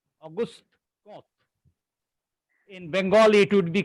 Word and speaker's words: Auguste Comte: It is called Auguste Comte. Auguste Comte.